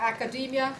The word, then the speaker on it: academia: é o s site academia pronuncia academia porque ele veio do mundo angos sação academia.edu você pode ser